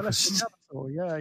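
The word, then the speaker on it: Alessio Cavatore: Yeah, Alessio Cavator, yeah.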